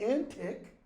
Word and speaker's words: antique: our Modern English pronunciation in Shakespeare's day that word is pronounced both antic like crazy frantic and antique old so a crazy wives